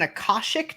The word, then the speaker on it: Akashic: Am I pronouncing it right, Jenny? This is an Akashic dragon on the cover?